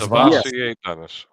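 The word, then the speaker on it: SirVocea Dennis: Savassier Dennis. Yes. Savassier Dennis.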